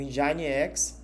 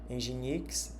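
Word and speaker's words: nginx: Os principais são esses, né, que é o Apacho, o Engine X, né, Ginix, mais pronunciar de forma literal, masine X e o Microsoft IS.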